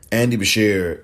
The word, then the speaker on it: Beshear: of kentucky a democrat his last name is spelled b as in boy e esses and sam h e a r andy bashir andy beshear is the governor and he